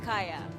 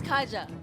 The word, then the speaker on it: Kaja: as well big big Kaaya wait it's Kaja Kaja it's Kaja I remember of the